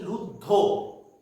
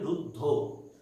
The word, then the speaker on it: রুদ্ধ: আর আমরা যখন উচ্চারণ করি তখন দেখুন আমরা বলছি রুদ্ধ, ও উচ্চারণ হচ্ছে, তাই তো? রুদ্ধ অ এইভাবে আমরা উচ্চারণ করি না, আমরা বলি রুদ্ধ।